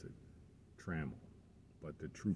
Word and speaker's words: Trammell: Some people pronounce it Trammell, but the true pronunciation is Trammell.